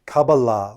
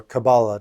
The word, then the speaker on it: Kabbalah: So today we're talking about Kabbalah or Kabbalah, depending how you pronounce it. Either one is fine.